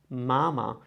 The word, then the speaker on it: mama: The pronunciation of mama would be something like mama. Kind of mild, you see, mama. There's no crazy picking, it's just mama.